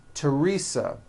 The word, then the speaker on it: Teresa: Although these next words and names are spelled with a TH, they are pronounced as if they were spelled with a normal T, like that.